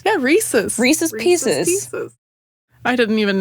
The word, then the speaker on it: Reese's: People say Reese's, and I'm like, no, the whole point is that it rhymes. Yeah, Reese's.